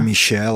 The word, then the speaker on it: Michel: da Anneliese Michel, é assim que pronuncia o nome dela? Ela era alemã, né? Michel, alemã, exatamente, isso aí.